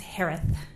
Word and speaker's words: Herath: s-a-n-d-e-r-s-o-n last name is pronounced like Harris with a lisp it's herath h-e-r-a-t-h hello just as a